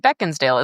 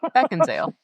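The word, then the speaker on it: Beckinsale: It's Kate Beckensdale, isn't it? Isn't there a D there? There's no D. No, I did not know that. I have pronounced that wrong for a long time. Beckensale. Beckensale. Huh.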